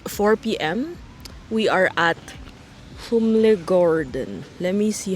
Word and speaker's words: Humlegården: We are at Humlegården. Let me see how to pronounce it again. Humlegården.